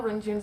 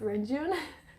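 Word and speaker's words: Renjun: win-win mark renjoon and i know rinjun's not how you say it um but i always mess it up when i try to say it correctly so i'll just stick with rain june uh damon in flying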